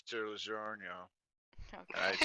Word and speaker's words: DiGiorno: I said it correctly the third time. No, you added an extra syllable at the end there. Red Robin.